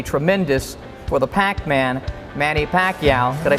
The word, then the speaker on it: Pacquiao: I'm certain the future's going to be tremendous for the Pac-Man, Manny Pacquiao.